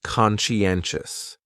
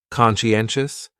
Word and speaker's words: conscientious: So conscientious has four syllables and the stress is on that third syllable. N conscientious. Conscientious. That second syllable is what really confuses people because that sigh almost sounds like you're saying she.